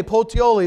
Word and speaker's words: Puteoli: I'm going to say Puteoli. That's pretty close to what the actual pronunciation of that is.